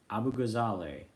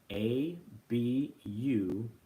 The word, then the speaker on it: Abughazaleh: Her last name, I'll spell it slowly. It's Abughazaleh. Abughazaleh.